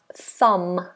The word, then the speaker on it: thumb: we have thumb thumb this is a difficult one for pronunciation because we have that famous th and we have a silent B thumb so that's silent and that's to be concentrated on um thumb we don't do thumb just thumb thumb thumb good so we